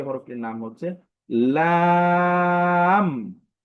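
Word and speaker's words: لام: আমরা যে হরফটি শিখবো সে হরফটির নাম হচ্ছে লাম লাম এই হরফের উচ্চারণটি একদমই সহজ।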